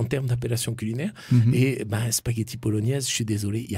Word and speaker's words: bolognaise: Donc voilà pourquoi spaghetti à la bolognaise, niaise, comment dirais-je, le mot niaise, en tout cas le son niaise, vient de la prononciation à l'italienne, bolognaise, mais c'est un N et ça n'est pas un GN.